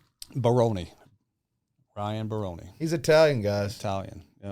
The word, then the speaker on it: Baroni: Baroni.